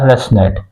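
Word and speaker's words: ResNet: the second one is the residual neural network pronounced as the rest net the third one is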